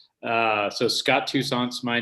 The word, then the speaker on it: Toussaint: Yeah, so it's pronounced Toussaint, which is not the French way. I guess that's the American way. So Scott Toussaint's my name.